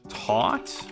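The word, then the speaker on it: taut: Um, taught. Is that how it is? Taught. When something's tight. Taught hair. I don't think it's spelled that way. I think it's how it's pronounced.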